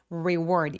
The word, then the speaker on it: reward: as a reward 이거 리워드 아니게 reward 입술 쭉 내밀어서 알 발음 꼭 주의해 주세요.